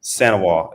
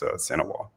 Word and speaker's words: St. Ewart: But Sanois is how you say my last name. The is in French, and you don't pronounce the T in it. So it's Sanois.